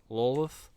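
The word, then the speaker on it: Lolth: and the spider queen's name is spelled like that lol lolith wolf it's kind of like lilith but it's not lilith and that always throws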